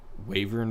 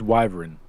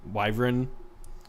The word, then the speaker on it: Wyvern: Ancient uh uh Wavern or whatever. I can't pronounce nothing. Y'all got to help me with this. I think it's Wyvern. Wyvern. Yeah, that's how I've heard it.